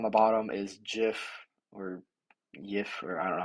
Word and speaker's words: Jif: Uh, and this peanut butter on the bottom is Jif, or Yif, or I don't know how you say it. I call it Jif. It's just Jif, their natural creamy peanut butter.